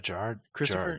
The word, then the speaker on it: Gerard Christopher: the nicest guy uh J how do you pronounce his name uh Gerard J Gerard Christopher Gerard Christopher he's super nice I almost got